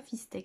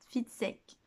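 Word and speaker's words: Fitzek: C'est pas Fistek, c'est Fitsek.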